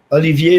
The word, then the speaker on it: Olivier: Olivier, like the actor Laurence Olivier.